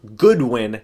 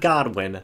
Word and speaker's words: Goodwin: Bay Buccaneers have hired Harold Goodwin not Godwin let's not get that